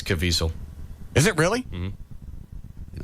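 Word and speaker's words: Caviezel: I always screw it up too yeah it's cavel is it really mhm I never would have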